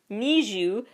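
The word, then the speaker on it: NiziU: an interesting contrast there Neu n i z i u meant to be pronounced kind of like a need you their fandom name is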